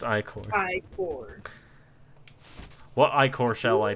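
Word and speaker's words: ichor: that was an early sign Ed me it's pronounced i-core what I core shall I take health and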